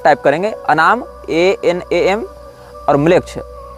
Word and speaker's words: मेलेच्छ: ANAMMLECH या इसी प्रकार की कोई स्पेलिंग आप टाइप करेंगे, अनाम ANAM और म्लेच्छ। इसमें म्लेच्छ जो है वो हमारा वाला म्लेच्छ नहीं है, मेलेच्छ, मेलेच्छ शब्द जैसा है, MELECH इस प्रकार से।